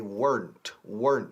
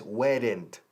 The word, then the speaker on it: weren't: No, they weren't. No digáis weren't. Es una sola sílaba.